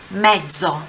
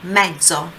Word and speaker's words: mezzo: Olha a pronúncia ali do Z, Z, mezzo, mezzo, ok?